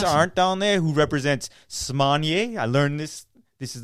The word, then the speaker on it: Smanie: We saw Chris Arndt down there, who represents Smanier. I learned this. This is the correct pronunciation.